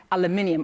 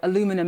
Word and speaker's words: aluminium: to the steel and aluminium or aluminum as you Americans say.